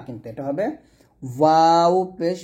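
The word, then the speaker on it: و: ওয়াও পেশ ভু, ভু, দুই ঠোঁট মিলবে না, ঠোঁটের মাঝখানে ফাঁকা থাকবে, ঠোঁটের মাঝখানে কি থাকবে, ফাঁকা থাকবে। ফাঁকা রেখে আপনাকে ওয়াওটা উচ্চারণ করতে হবে। দুই ঠোঁট যদি আপনার মিলে যায় তাহলে বুঝে নেবেন আপনার ওয়াও উচ্চারণ হচ্ছে না। দুই ঠোঁট মিলে গেলে আপনার ওয়াও উচ্চারণ হবে না, জিন্দিগত হবে না, ঠোঁটের মাঝে অবশ্যই ফাঁকা রাখতে হবে। আর এটা হলক থেকে নিয়ে আসা যাবে না, এটা দুই ঠোঁট থেকে উচ্চারণটা আনতে হবে।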